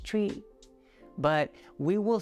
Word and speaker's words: chui: with the kidney and it's written as c-h-u-i pronounced tree but we will say it in a breathy